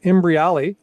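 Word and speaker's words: Imbriale: So Robert Imbriali, if I say his name right, Imbriali, you got it, is known as a motivational marketer.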